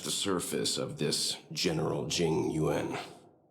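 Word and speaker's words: Jing Yuan: I think we only scratched the surface of this general Jing Yuen. Oh, definitely. Jing Yuen. That's how you say his name.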